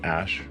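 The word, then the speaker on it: Æ: And then the AE is like pronounced Ash.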